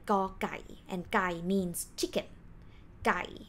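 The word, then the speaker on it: ก ไก่: g sound plus o so we pronounce it like go and the word guy is example word so let's take a look up here to call each consonant name you have to have initial consonant sound plus or sound like this one pronounced go plus specific example word ah so that's why we call it gaukai and gai means chicken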